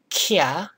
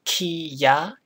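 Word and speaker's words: きゃ: So this one is pronounced kya, not kiya. It's not kiya, but it's kya. So it's kind of slurred together.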